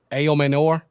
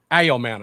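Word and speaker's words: Ayomanor: Amenor. Did I even close? Yeah, you're pretty close. It's Ellio Manor. A manor. I was not close at all.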